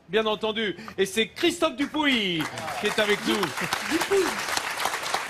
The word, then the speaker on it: Dupouy: Ah, on dit Dupouy. Alors, tu le prononces à la Gasconne, s'il te plaît. Ah, À la d'accord, Gasconne, on d'accord. dit Dupouy. Ça s'écrit Dupouy, mais ça se dit Dupouy.